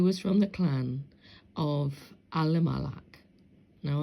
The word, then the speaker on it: Elimelech: Now, I don't use the E's because in the ancient Hebrew, there was no E, there was no I. So how you would have pronounced this would have been Alamalak, which means Al or